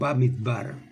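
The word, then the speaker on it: מדבר: Eso es o midbar, como generalmente se debiera pronunciar.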